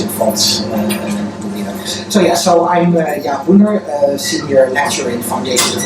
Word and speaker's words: Boender: Jaap Boender. How do you pronounce your name? Boender. And you don't pronounce the D, huh? Boender. Boender. I don't. You're supposed to. You don't, so Boender. Boender.